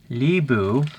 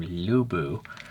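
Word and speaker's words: Lü Bu: Libu, although I would pronounce the person's name Lubu, was part of the Eastern Han Dynasty.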